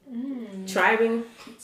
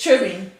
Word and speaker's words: tribbing: Tribing. It's tribbing. Why is Because a lot of people say tribing.